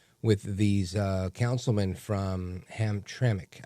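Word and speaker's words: Hamtramck: these uh councilmen from Ham Tremik. I guess it's pronounced Tremik. I said ham because there's no I. It's just ham tram cke.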